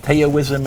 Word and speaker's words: Taoism: How about Taoism and Confucianism? Okay. You mean Is that in the, if I'm pronouncing it correctly?